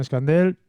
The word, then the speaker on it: Escandel: Escandel, creo que he Sí, pronunciado bien el señor.